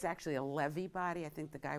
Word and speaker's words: Lewy: a Lewy body I think it's actually a levee body I think the guy was Jewish but and that's how you properly pronounce it it's a Lewy body and nobody